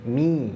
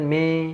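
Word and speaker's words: من: Nah, mi kasrah ya. Huruf yang berharakat kasrah sempurna. Kasrahnya vokalnya i, mi ya. A'udzu billahi mi. Nah, jangan me. Nah, itu nggak boleh. Jangan miring bunyinya, jangan bunyi me, tapi mi.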